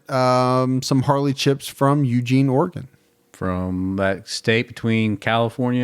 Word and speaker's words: Oregon: There's one way to say it. Yeah. Oregon. That's what I say.